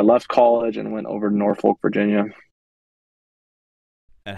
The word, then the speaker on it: Norfolk: my career in Norfolk it's Norfolk Virginia that's how they say it um and started